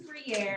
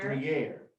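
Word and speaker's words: Gruyère: I haven't had how do you say The cheese is Gruyere, Gruyere.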